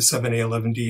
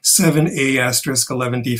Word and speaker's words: 7A*11D: Brian mentioned that I'm one of the co-founders and co-curators of the 7A11D International Festival of Performance Art. 7A11D is spelled 7A*11D, and the asterisk is silent.